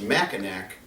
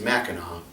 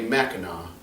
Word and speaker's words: Mackinac: like this it looks like it would be pronounced mackinac and a lot of people that come to visit from outside of the state say mackinac but the proper way to pronounce it is mackinac if you ever come to michigan make sure